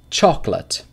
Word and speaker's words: chocolate: Chocolate. Two syllables.